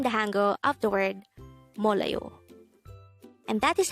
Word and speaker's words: 몰라요: Mollayo. This is pronounced as a 3-syllable word. The first syllable is mol, second syllable is la, the third syllable is yo. Pronounce it with me. Mollayo.